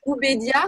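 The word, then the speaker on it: Ubeidiya: C'est Ubédia, c'est ça? Oui, Ubédia, qui est crédité d'avoir 1,4 million d'années. Ça s'écrit comment?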